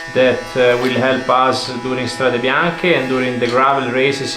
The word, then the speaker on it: Strade Bianche: Strade Bianche, and yeah, white roads. And before I used to pronounce it Strada Bianchi, but Letizia helped me.